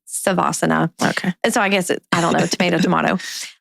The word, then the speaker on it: Savasana: Some people say Shavasana. I say Savasana.